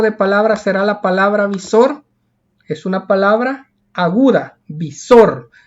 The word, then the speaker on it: visor: ¿Qué tipo de palabra será la palabra visor? Es una palabra aguda, visor. Lleva la mayor fuerza de voz en la última sílaba.